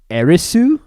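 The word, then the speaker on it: エアリス: a-e-r-i-t-h but that's because her name said in japanese is arisu and so and so it's like and there there is no th sound in japanese i don't think so you're i think you're right on that they don't have like a th or something something along those lines not not like we do in english yeah so whenever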